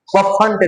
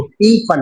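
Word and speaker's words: Pfund: पफंड नहीं कफंड नहीं बोलना है इसको। पी फंड क्या बोलना है? पी फंड series T फंड series.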